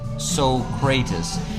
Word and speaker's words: Socrates: Yes, Socrates was Plato's student and it's pronounced Socrates.